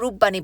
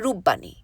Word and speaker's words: রূপবাণী: তারপর একটা বিরাট উঁচু ফ্ল্যাট বাড়ি, তারপর রূপবাণী বায়োস্কোপ। এই বায়োস্কোপ বাড়িটার নাম নাকি দিয়েছিলেন রবি ঠাকুর। সবাই বলে রূপবাণী, কিন্তু বাবা একদিন আমাকে বলেছিলেন এর উচ্চারণ করতে হয় রূপবাণী।